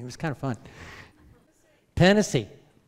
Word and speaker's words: Tennessee: was kind of fun tennessee cannot see that's how i'm told to pronounce it tanasi okay uh texas okay